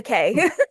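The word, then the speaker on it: Kaye: K uh it it's actually K okay just K just the letter k no it's k a ye e but it's pronounced k okay okay okay okay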